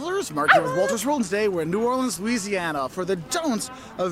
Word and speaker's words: New Orleans: It's like new like new and then or like what you row a boat with and then lens like a camera lens. That's how you say it. New Orleans. And you put the emphasis on that or.